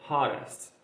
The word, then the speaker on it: hottest: A maioria desses 2 T's que ficam juntos, eu posso pronunciar com um R, som de R, tá? Fica muito mais, como posso dizer, som do nativo. Ele fala muito mais desse jeito, tá?